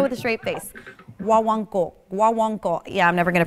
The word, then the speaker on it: guaguancó: Guaguancó, guaguancó. Yeah, I'm never gonna pronounce it right.